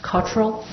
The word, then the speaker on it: Cottrell: And that is pronounced Cottrell? Yes, that's right.